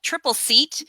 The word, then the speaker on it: Tripleseat: I'm the content marketing manager for a startup called Tripleseat. I always have to kind of explain the name a little bit. It's spelled like this, Tripleseat, like chair.